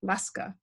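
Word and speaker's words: lascar: the word um that in english it would be pronounced like laska and it was associated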